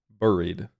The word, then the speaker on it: buried: The U is pronounced wrong. Buried.